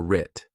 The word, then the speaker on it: writ: Our successes and failures were writ. Did you spell this, starting with AR or with AW? The West is silent, just like in the word right.